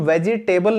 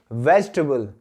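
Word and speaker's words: vegetable: अब दोस्तों इस वर्ड की प्रोनाउंसिएशन भी आप देख लीजिए, इसको हम वेजिटेबल नहीं बोलते, ये जो कुर्सी और टेबल है वो अलग है, हम इसको बोलेंगे वेजिटेबल।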